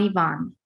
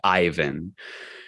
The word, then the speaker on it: Ivan: since you live here if you see my name in print you might think it was pronounced Ivan and imagine I was